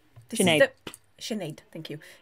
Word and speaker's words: Sinéad: the Sinéad, thank you, It's this is my the middle name.